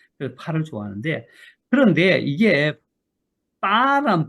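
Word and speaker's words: 八: 이 8의 발음이 빠로 읽어요.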